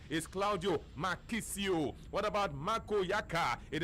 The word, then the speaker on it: Marchisio: Manju to do kitsch let's say that Claudia mochi CEO is of course not left after calling my real name and of course correct pronunciation is Claudio Marchisio what about Marco Yakka it is not marco